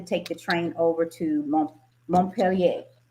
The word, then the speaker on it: Montpellier: the train over to Montpellier. I think that's how you say it in French. Montpellier. Montpellier for us Americans.